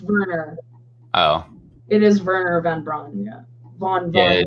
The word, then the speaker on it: Wernher von Braun: Luna oh it is Verner von Braun yeah yeah it's spelled with a W but yeah but that's how they pronounce it over there there we go right